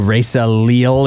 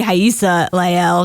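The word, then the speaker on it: Rayssa Leal: do you know who Risa Le is it's uh it's actually haa LEL she's from Brazil I know it looks like it's supposed to be Risa but all right how do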